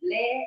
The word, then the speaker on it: Le: wondering if your surname is pronounced as Le or Lee yeah good question it's Le l e so it's a